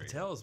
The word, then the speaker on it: Patel: And Patel basically started out a derivative of landowner. So, you know, and it rhymes with hotel.